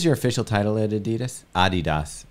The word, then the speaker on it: Adidas: Adidas, if you want to say it right.